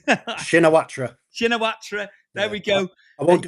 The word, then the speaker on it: Shinawatra: Taxing Sinatra. I can't pronounce it, mate. Shinawatra.